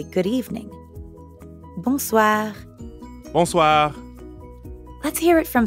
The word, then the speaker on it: bonsoir: We already know how to pronounce the first part, bon, because it's the same in bonjour. And the second part is soir. That means evening. Soir. The end sound is kind of like saying ah at the dentist.